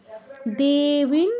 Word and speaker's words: देवीं: স্তুবতান, অনুসারের পর দ আছে, তো দ থাকায় আমরা অনুসারের জায়গায় নয় হসন্তর মতো উচ্চারণ করব। দেবিন, দুটোই দীর্ঘ আছে।